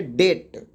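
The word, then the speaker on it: debt: silent हो जाता है अगर किसी शब्द में बी जो है टी के पहले आता है कहां आता है टी के पहले तो क्या हो जाएगा साइलेंट हो जाएगा बी साइलेंट हो जाएगा जैसे देखिए टी के पहले बी है तो इसको क्या पढ़ेंगे डेट अब टी के पहले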